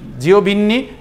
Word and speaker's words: Giovanni: হচ্ছে, যে অথর লিখক তার নাম GIOVANNI, এটা উচ্চারণটা হচ্ছে জিওবিন্নি অ্যান্টারিও টেগলিনেটি।